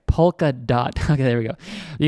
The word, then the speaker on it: Polkadot: You guys are going to click into Polkadot. See, I'm not saying it right. Polkadot.